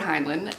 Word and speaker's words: Heinlein: And the last book that I picked up was another Robert Heinlein, and I think that's how you say his name.